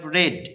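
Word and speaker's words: read: You have রেড। উচ্চারণটা রেড কেন বললাম?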